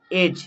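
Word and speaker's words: edge: এজ, এখানে D silent যেহেতু ডি আর জি রয়েছে। ঠিক তেমনি ব্রিজ, জাজ রয়েছে।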